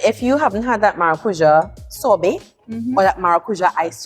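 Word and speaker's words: maracujá: until you've had that is it Mar how you pronounce it maruja maracuja which is one fion fruit in Portuguese Portuguese which is also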